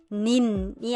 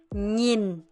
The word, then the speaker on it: nhìn: 근데 이거 발음하실 때 조심하셔야 되는 게 있는 게 뭐냐면 얘는 nin이 아니라 닌 이렇게 발음을 하셔야 돼요. 절대 nin이 아니라 닌 이렇게 발음하셔야 된다 생각하시면 됩니다.